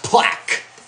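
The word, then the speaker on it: Plack: So we call it Paint with Josh Plaque. And no, not the plaque. It's spelled P-L-A-C-K.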